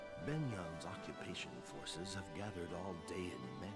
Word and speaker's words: Begnion: To the powerful Benyon Empire. Benyon? Dayan's future is now subject to the whims of... Wasn't that how we say it? Begnion? Begnion, yeah. Oh, yeah, that sounds about right. Benyon's occupation forces have gathered all Dayan men of